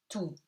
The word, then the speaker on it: tout: Tout. OU gives you OU, et T is silent.